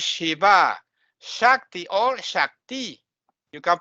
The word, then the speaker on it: Śiva: But Shiva, no, it's Shiva, not Shiva.